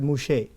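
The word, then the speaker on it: משה: Hebrew yeah right now in Hebrew Musa means they say they call they pronounce it mushe MH and mushe means something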